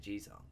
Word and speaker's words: Jisung: Oh, that's how you say it, G-Song.